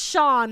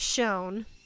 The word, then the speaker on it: shone: she says wrong yes she also says Sean instead of shown like you're saying the light Shone bright she says Sean bright I'm like that's a